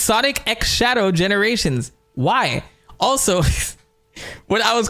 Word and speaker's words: Sonic X Shadow Generations: This could mean X. This could mean cross. Did you guys know Sonic Sonic X Shadow Generations? This is how it's pronounced. It's pronounced Sonic X Shadow Generations.